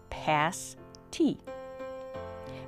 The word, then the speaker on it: pasty: a traditional miner's meal a meat pie called a pasty pronounced pass tea at the restaurant we